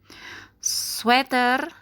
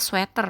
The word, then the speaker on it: sweater: tetap hangat di dalam sweater ya bacanya sweater bukan Sweater teman-teman sweater sketsa rumah tangan